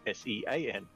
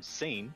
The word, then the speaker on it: Sean: a guy's name and it was s-e-a-n and i was like since to me and i was like i'll see your name seen and he goes what no sean i'm like what hang on how's that shawn i got so confused